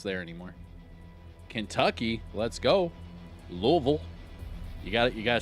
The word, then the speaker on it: Louisville: Louisville. You gotta say it like that. Louisville.